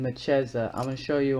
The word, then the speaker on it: Mechezah: says the old Strong's Bible concordance gives the pronunciation as mechi eza and defines as a window thus also light so her name Meza or I've been saying mcheza I'm going to show you online so you